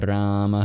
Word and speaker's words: Rama: There's the A at the end of Hare, and then there's the first A in Rama. Every other syllable is short, including both syllables in Krishna.